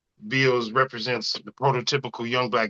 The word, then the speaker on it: Bealz: But so, what is Bealz about?